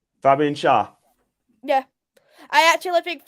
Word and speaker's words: Schär: I'm gonna go for is it pronounced Shah? Fabian Schär? Yeah, I actually think Fabian Schär.